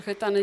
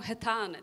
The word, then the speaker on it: Hetane: już tak przyzwyczaili że ludzie po prostu wymawiają hetane tak po polsku że już nie reagujemy na to To jest piękne polskie słowo dokładnie ale tak naprawdę tam jest takie krótkie hetan to jest takie op